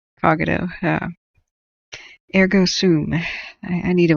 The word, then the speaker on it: Cogito: He's one of our resident firefighters that comes in the channel here, Iceman, aka Cogito. No, it's Cogito.